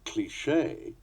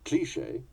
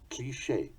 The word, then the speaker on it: cliché: Hence, the American pronunciation cliché, the English cliché, and the authentic French cliché.